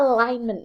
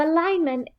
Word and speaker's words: alignment: alignment now so here it's spelled correctly it's got an N uh it's got a secret kind of G as well so don't forget about the G and Alignment so alignment is the placement of